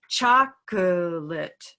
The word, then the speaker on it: chocolate: i like it because i can use it for schwa that sound that we we don't really have a special color for but it's hidden in a cup of mustard it's the uh and